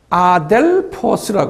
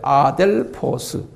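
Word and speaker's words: ἀδελφός: 아델포스라 그래요. 아델포스. 아델포스. 그냥 발음나는 대로요.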